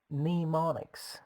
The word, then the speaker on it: mnemonics: learning one way is mnemonics how do you spell it it starts with M and E mo ni CS the first letter M being silent and pronounced since a